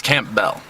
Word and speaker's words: Campbell: I keep pronouncing your name wrong. It's Campbell.